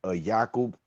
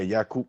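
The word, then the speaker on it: Yaqub: about prophets, you know, you might be familiar with the term Yakob. Yakob for Jake. Yeah. Yakob. Exactly. Yakob. This that's how we say his name as well in in Islam.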